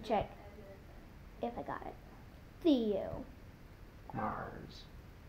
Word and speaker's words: Theomars: if I got it Theo Mars he comes from Mars cuz that's why his name is Theo it rhymes with Leo which rhymes with I'm